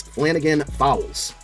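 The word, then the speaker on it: Flannigan-Fowles: this is another one I had to Google to see if I was pronouncing it correctly Demetrius Flanigan fowls say say it just like you spell it just like it looks pass coverage left outside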